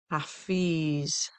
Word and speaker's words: Hafiz: The divine name for protection is Hafiz, protection and preservation. Hafiz, that's spelled H-A, F as in Frank, I-Z as in zebra.